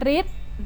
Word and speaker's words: ฤทธิ์: นะ คะ ต่อ ไป การ อ่าน ออก เสียง เป็น ริ เช่น ฤทธิ์ ก็ คือ ผู้ มี